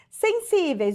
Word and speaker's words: sensíveis: Sensíveis, ó, sensíveis. Sensíveis, o que que acontece? Última, penúltima. Penúltima sílaba mais forte, terminada em ditongo, paroxítona, terminada em ditongo.